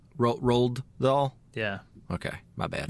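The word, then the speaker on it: Roald Dahl: all adaptations of uh Roland dll right is that how you say it I think it's roled roled doll yeah okay my bad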